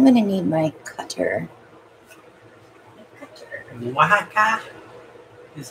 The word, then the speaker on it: Oaxaca: Oaxaca is how it is pronounced. Oaxaca.